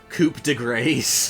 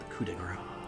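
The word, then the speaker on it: coup de grâce: Grinds my gears, so they say Coupe de Grace. The coup de grace.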